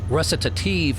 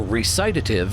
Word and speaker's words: recitative: The word, pronounced recitative in England, or recitative in America, means a musical declamation